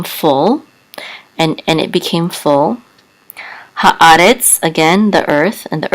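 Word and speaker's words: הארץ: And this is a He with a Kamatz, which says Ha, the. And the Aleph is silent, but the Kamatz says A. And the Resh with the Segol and Tzadi says Retz, Haaretz, which means the earth,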